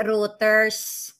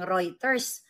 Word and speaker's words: Reuters: Reuters ha. Hindi routers. Kung magdunong-dunungan ka lang naman dapat alamin mo muna yung tamang pagbigkas kasi perfect kayo ba nagtalitanuhan kayo o hindi niyo alam ang tamang bigas ng Reuters. Kung writer ka lahat ng writers alam nila kung paano bigkasin ang Reuters.